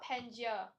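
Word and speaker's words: Pangaea: Let's see how to pronounce that while you guys answer the question. Wow, this is a... Oh, it's just called Pangea. Pangea.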